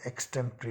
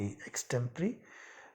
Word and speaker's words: extempore: किसी तैयारी के, तो उसको हम इंग्लिश में एक्सटेम्परी बोलते हैं। स्पेलिंग है EXTEMPORE, एक्सटेम्परी।